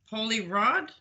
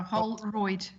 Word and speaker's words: Holroyd: And So this should be Holy Rod? No. No, Holroyd.